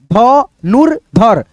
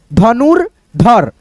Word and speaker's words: धनुर्धर: दर्शक, हर्षित, धनु र पढ़ो पहले, उसके बाद से धर, धनुर्धर, धनुर्धर।